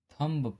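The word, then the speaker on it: thumb: एम के बाद यदि बी आता है तो बी साइलेंट होता है। जैसे कॉम, बॉम, थम, डम। बहुत से लोग इसको थंब पढ़ते हैं, थंब।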